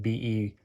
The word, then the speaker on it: Bexar: And I forgot to mention, it's spelled Bexar, but it's pronounced Bayer, like Beyar. The X is silent.